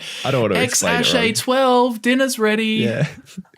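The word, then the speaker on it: X Æ A-12: Yeah, Apparently the AE is pronounced Ash. Yeah. So what? It's Ash. X-Ash Archangel, I think, or something like that. X-Ash A12.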